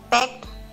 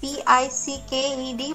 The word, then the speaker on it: picked: Who said it's pecked and who said it's picked? It is P-I-C-K-E-D. Pronunciation is picked.